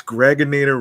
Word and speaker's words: Gregonator: Yeah, yes, Gregonator rhymes with now or later.